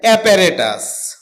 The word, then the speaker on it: apparatus: এটাকে আমরা অপারেটাস বলে থাকি। যার সঠিক উচ্চারণ হচ্ছে অপারেটাস।